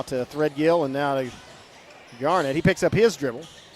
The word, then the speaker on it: Garnett: Garnett is how it's pronounced. Okay, I'll give him that. Like Kevin Garnett.